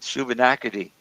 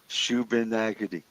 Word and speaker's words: Shubenacadie: I said, Shubenacadie. He said, Shubenacadie. Hey, it's just like it looks.